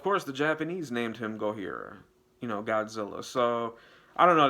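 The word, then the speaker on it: ゴジラ: Like, because we don't have a name for it, and they say Godzilla or Gojira. That's how they say it in Japan.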